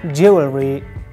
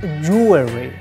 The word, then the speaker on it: jewelry: If you say like jewelry, you're wrong. The correct pronunciation is jewelry. In pronunciation aspect, we change the first E letter to O letter, like jewelry, jewelry, not jewelry or jewelry, something like this. The correct one is jewelry.